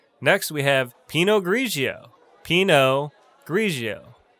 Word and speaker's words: Pinot Grigio: we have pinot grigio pinot grigio not peanut grigio it's pronounced pinot grigio i'll take a glass